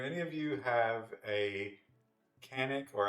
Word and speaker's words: Canik: Do any of you have a Canik, or actually, I think the proper pronunciation is Jonik, because it's Turkish.